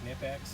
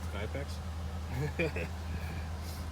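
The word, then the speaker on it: Knipex: Nipex?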